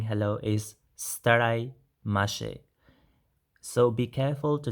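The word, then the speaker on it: ستړی مه شې: So be careful to the starai with an r sound, starai mashe. So if you want to say this staraimashi to a male person, then it remains the same. So staraimashi with an I sound at the end of starai. Yeah? If we say this to a female person, then we say stare mashe. So the stare with an A sound.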